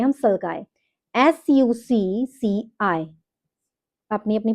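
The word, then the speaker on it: sulci: में डिप्रेशन होता है उसको बोलते हैं हम सल्काई, SUCCI। अपनी अपनी प्रोनाउंसिएशन है, उसके अकॉर्डिंग आप देख लीजिएगा।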